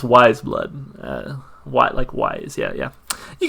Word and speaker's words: Weyes Blood: pronounce that by the way i was like way is blood ways blood apparently is pronounced wise blood white likewise yeah yeah you get the idea